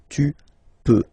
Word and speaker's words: peux: Okay, then tu peux. Same pronunciation and same spelling or writing. Okay, P-E-U-X. Okay, don't pronounce the final x. Tu peux.